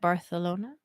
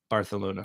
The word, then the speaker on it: Barcelona: just wanted to because i just learned the correct way to pronounce it the other day because we went to a place called barcelona yes and i think they and i think uh what i've learned since is that a lot of places in uh maybe it's just that particular region of spain but that's how they pronounce their c's and their words that is what